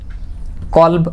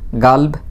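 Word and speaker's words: قلب: কলব অর্থ হার্ট, কলব অর্থ হার্ট, ইংলিশ হার্ট। কলব অর্থ হার্ট, কলব অর্থ হার্ট অথবা গাল্ব বলতে পারেন, কারণ এরা কপকে গ উচ্চারণ করে।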